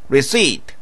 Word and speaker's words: receipt: 영수증, 영어로는 receipt. P는 발음되지 않습니다. receipt. 바로 여기. right here. 가방 안, in the bag. 이렇게 말하면 되겠죠. 자, 이제 여러분들이 직접 우리말을 영어로 말해보세요. I have my receipt right here in the bag.